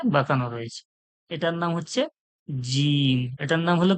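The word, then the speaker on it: جيم: বাংলার বরকার্য যে বলবো কোনখান থেকে উচ্চারণ হচ্ছে জীবের মাঝখান এবং ওর সোজাসুজির তালু থেকে মানে আওয়াজটা বার হবে জীবের মাঝখান এবং ওর সোজাসোজি তালু থেকে বার হবে উচ্চারণ করুন মনে মনে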